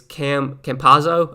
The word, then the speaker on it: Campazzo: No EO, it's Campazzo. Oh, Campazzo, gotcha. There's some guys I don't know how to pronounce their names, and I just kind of do the best I can.